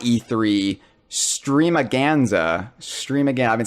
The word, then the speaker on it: Stream-A-Ganza: it wrong all day I've been calling it streaming Gonza and Jeff has been correcting me that it needs to rhyme with Tony Danza or else it's invalid